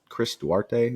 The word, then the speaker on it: Duarte: They had lost George Hill, lost James Johnson, Chris Duarte, is how you say that.